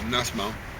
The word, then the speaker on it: Nussbaum: Nussbaum.